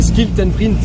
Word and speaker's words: Schild en Vriend: Okay, and those are the two things a French person can pronounce well, the ske and the re, right? So they'd say Schild en Vriend, they'd say.